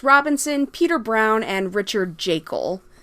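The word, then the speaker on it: Jaeckel: Then we have our trio of surfers, Rick, Ed, and Tom, played by Chris Robinson, Peter Brown, and Richard Jekyll. I think it's pronounced Jekyll.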